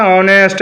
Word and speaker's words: honest: तो देखते हैं क्या लिखना है, ऑनेस्ट, HONEST, और साइलेंट भी हो जाता है, साइलेंट भी हो जाता है। अब देखिए एच को मैं छोड़ता हूँ और लिखते हैं, क्या लिखते हैं? ऑनेस्ट।